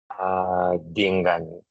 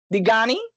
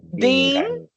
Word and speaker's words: Dingani: Dingani. Digani? There's an N after I. Dingani.